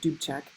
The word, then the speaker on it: Dubček: So the leader of the Czechoslovak Communist Party is Alexander Dubček, is how you say that, Dubček.